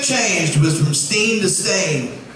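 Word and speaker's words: Berenstain: How do you spell it? B-R-E-N-S-T-E-I-N, correct? Right? Yeah. No, it's Stain. I swear to God. We actually dug up my old books and they all said Stain.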